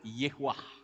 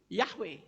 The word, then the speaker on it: Yahweh: bawah huruf Waw jadi Bacanya yehuwah apa betul yehuwah saudara kalau betul yehuwah logikanya orang akan berkata Haleluya karena depannya yeah tapi faktanya bukan Haleluya tetapi halelu yah yah itu kependekan dari Yahweh kemudian kata gold itu